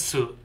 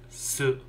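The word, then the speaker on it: す: Okay, let's go for the pronunciation. She. She. She. She. Get ready for the next character. Su. This is Su, or Su.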